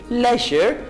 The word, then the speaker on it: leisure: इसको लेयर नहीं कहेंगे, किसी और तरीके से प्रोनाउंस नहीं करेंगे, आप इसको प्रोनाउंस करेंगे लेजर।